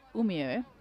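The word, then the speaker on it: Umeå: where they played against umio as you taught me it's pronounced think of Romeo Romeo it's a weird reference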